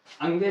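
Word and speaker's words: ङ: हाँ तो दोस्तों, नहीं आता ना इसका उच्चारण आपको, मैं बताऊं आपको, इसे दोस्तों अंगे कहते हैं।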